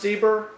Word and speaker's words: Steber: So, is it pronounced Steber?